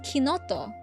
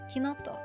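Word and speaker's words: Chinotto: That's how it's that's pronounced kinto. It's citrusbased soft drink. A bit bitter. Kinoto.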